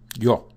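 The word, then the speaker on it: ё: And it's just pronounced like yo, right? With a sort of opened O.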